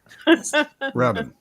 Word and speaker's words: Rabin: Bin like rubbish bin, apparently. So now I will never forget how it's pronounced. Rabin.